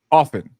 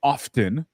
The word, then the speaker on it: often: So yeah, I always was raised to pronounce it often. Like the T was silent.